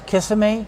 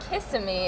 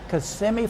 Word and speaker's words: Kissimmee: everybody's from Florida and it's Kissimmee can you lean over and kiss me okay it's not kissing me oh me oh it's not kissing me no oh it's how do you say that again kissing me Kissimmee Florida and where is